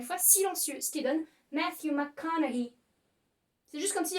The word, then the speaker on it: Matthew: Encore une fois, un acteur qu'en français, on a souvent tendance à appeler Matthew McConaughey. Donc déjà, Matthew se prononce Matthew.